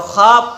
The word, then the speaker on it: خ: کر ادا کرو ہا۔ اور خا کو کیسے ادا کریں گے؟ خا کا بھی تو تلفظ آپ کا جیسے ہا کا رہا ویسے کھا کا رہے گا، ٹھیک ہے؟ تو کھا کہاں سے ادا ہوتی ہے؟ کھا ادا ہوتی ہے آپ کی آخر حلق سے۔ کہاں سے ادا ہوتی ہے؟